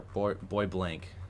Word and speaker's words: Bois Blanc: Bois Blanc, or Bois Blanc. Okay. That was close. Thank you for the pronunciation correction.